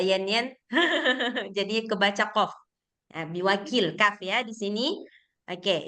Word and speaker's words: بوكيل: kof saya bacanya? Kenapa, Mbak Yanen? Biwakil gitu ya?